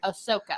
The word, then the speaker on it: Ahsoka: Which will presumably follow Din Djarin to Osaka Tano. Did I say it right? Ahsoka.